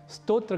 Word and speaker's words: स्तोत्र: को जानेंगे उस समय स्तोत्र का उच्चारण स्रोत नहीं करेंगे और श्रोत का उच्चारण स्तोत्र या नहीं करेंगे इसी प्रकार एक और